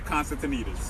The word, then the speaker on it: Constantinides: Councilmember Costa Constantinides.